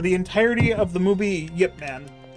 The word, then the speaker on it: Ip Man: entire of the movie Yip Man or ipman if you pronounce it incorrectly Ip Man so yeah